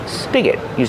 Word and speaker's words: spigot: Spigot, use the short I sound like this is.